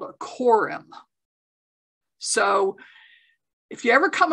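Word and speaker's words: corymb: how do you spell quorum it's right up there on the slide c-o-r-y-m-b you don't pronounce the b oh i see okay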